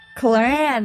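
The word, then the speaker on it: Clorinde: Cloran, that's how you say her name.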